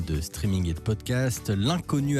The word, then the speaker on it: L'unconnu: L'Inconnu, attention, ça s'écrit l'un L'-UN, connu, C-O-2-N-U.